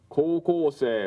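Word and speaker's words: 高校生: Kōkōsei, which is actually written ko, u, ko, u, se, i, but pronounced kōkōsei.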